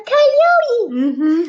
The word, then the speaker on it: coyote: A coyote. Let's cut that one out. Coyote. How many syllables? Coyote. How many? 3. 1, 2, 3.